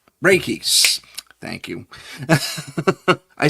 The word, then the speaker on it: Reiki: had on who talked about, uh, re uh, Reishi, energy healing, that type of thing. Raiki, thank you.